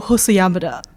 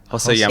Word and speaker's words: Hosoyamada: Yo, Hosuyama. Hosamada. It's Yamada and then Hoso in front of it.